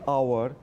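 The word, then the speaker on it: hour: Waiting here for অ্যান আওয়ার। সো যেহেতু এইচ এর উচ্চারণটা সাইলেন্ট থাকছে তার জন্য আমার কিন্তু এ বসাতে পারলাম না, এখানে আমাকে বসাতে হচ্ছে অ্যান।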